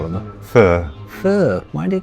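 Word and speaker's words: phở: Vietnamese pronunciation is fur.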